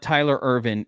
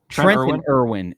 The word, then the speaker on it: Trenton Irwin: Trenton Irwin. Trenton. What did I say? Trenton Irwin.